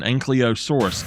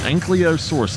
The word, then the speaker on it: ankylosaurus: People call the one dinosaur an ankylosaurus, and I did for a long time. An ankylosaurus, it's not an ankylosaurus, it is an ankylosaurus.